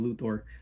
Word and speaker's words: Luthor: some people say luthor i used to say luther but then i started saying luthor because that's how they pronounce it in the game um catwoman bane